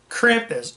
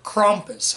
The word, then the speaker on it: Krampus: pronounced that right 2015's Krampus or crompus however you want to pronounce it Krampus crompus I'm just going to say Krampus for the sake of this video now Krampus is a